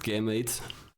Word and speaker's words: Gamate: It's pronounced game 8.